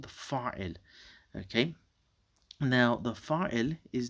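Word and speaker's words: فاعل: The fa'il, this is fa'ilun, but we don't normally pronounce that last bit over there.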